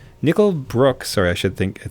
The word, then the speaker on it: Nickel Brook: should really consider yeah I'm opening up uh nickel Brock nickel Brook sorry I should think I think it's pronounced nickel Brook Brewing zap sour IPA I've